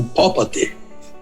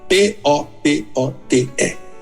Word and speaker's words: popote: Não houve um período, é isso que Jesus disse com popote. P-O-P-O-T-E.